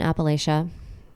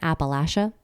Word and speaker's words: Appalachia: I grew up in Appalachia. I think I'm saying it wrong, and I should be saying it Appalachia.